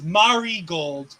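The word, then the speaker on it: Marigold: the way I'm being it's Mari gold not Mar Mari thank you m I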